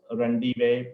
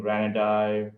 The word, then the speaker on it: Ranadive: It's pronounced Rendive, but I've heard all kinds of different pronunciations, including Ranadive, and but it's actually pronounced Rendive.